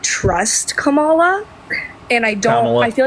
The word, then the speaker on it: Kamala: or sorry Kamala wait am I saying it right I'm sorry I'm not trying to be disrespectful it's Kamala you're good okay sorry